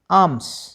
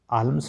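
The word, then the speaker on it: alms: सी ए एल एम काम ना कि कालम ठीक है बी ए एल एम बालम नहीं बाम ए एल एम एस आर्म्स आलम्स नहीं ठीक है एल अगला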